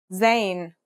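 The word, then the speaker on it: زاي: In terms of pronunciation, you say it just like the English Z as in zebra or el jazer.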